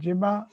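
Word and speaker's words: gemma: structures are produced okay this is called the jimma g-e-m-m-a or gamma as you pronounce the jema and this when germinate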